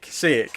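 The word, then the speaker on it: Šejić: Sejic. It's Sejic. Okay. Sejic. Yeah. Sejic. It's like saying say it, just with the C sound at the end.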